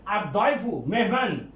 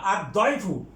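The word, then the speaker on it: الضيف: তারপরে আছে আর দয়ফু মেহমান, এটা দটা হরফে শামসিয়া, কাজেই এটা লামের উচ্চারণ হবে না। আর দয়ফু।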